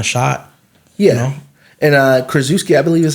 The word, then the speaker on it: Krzyzewski: And Krzyzewski, I believe is how you pronounce his name.